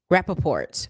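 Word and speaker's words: Rapaport: Then we have Michael Rapport. Am I pronouncing his last name correctly? Yeah. Rappaport. Michael Rappaport.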